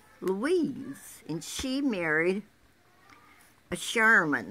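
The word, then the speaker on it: Scheuerman: and she married a Sherman now this is how they spell it s-c-h-e-u-e-e are m-a-n and they had two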